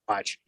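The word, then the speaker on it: Saguache: spelling on that uh s-a-g uh o-u-c-h-i i think is spelled so much or pronounced watch uh it's up near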